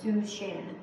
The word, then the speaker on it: Shushan: Now, some of your translations might say Suzanne, Shushan, and that's the way you actually pronounce the Susa, is Shushan.